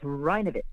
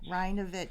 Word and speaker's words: Rajnovich: In Croatian, the J is silent. A lot of the words have a J in them, but it's silent. So, it's Rehovich. Reovich.